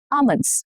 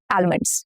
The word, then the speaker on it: almonds: Almonds, not almonds. No, almonds. Wednesday and not Wednesday.